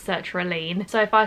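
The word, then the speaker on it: sertraline: my journey with search reliane i call it circular line it's actually pronounced search relean so if i say search reline just ignore me if you don't know what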